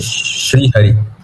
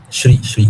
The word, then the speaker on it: Shri: What is the right pronunciation? Shiri or Siri? Shri Hari. Shri. Ah, Shri. Okay.